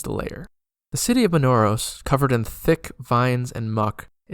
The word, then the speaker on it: Minauros: The third layer, Minauros, or perhaps it's pronounced Minauros, is a giant stinking bog.